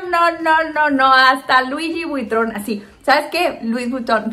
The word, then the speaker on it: Louis Vuitton: en todos y entonces una vez llegó un cliente que al igual que yo no podía pronunciar louis vutton así le digo yo así suscribe así lo prometo y entonces dijo louis vuitton y yo dije tienes razón mira cuando uno no